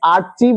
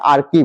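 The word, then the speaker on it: archive: প্রত্যেকের হে হেও থাকে এইটাকে অনেকে আরচিভ উচ্চারণ করে কিন্তু এটা আরচি না এটা আরকি উচ্চারণটা মানে আরকি মানে কি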